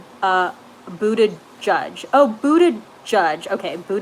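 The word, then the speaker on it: Buttigieg: Harris's campaign delvis a vacations his name is pronounced a Buddha judge no blue yes you're correct Lee Ron Underwood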